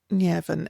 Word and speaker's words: Nemhain: Then we have Llewellyn, and Llewellyn is not explicitly named as one of the daughters of Ernmas, but very firmly linked within the plural of na Mórrígna in the lore. So Llewellyn is pretty standard for a spelling, but she